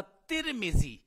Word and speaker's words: ترمذی: ही पढ़ते रहे हैं लिहाजा इस निस्बत से इसको तिर्म जीी ही पढ़ना ज्यादा बेहतर रहेगा अगर हम उसको बदलेंगे हम उसको तमीजी कर देंगे या तुरम जीी कर देंगे तो लोगों के लिए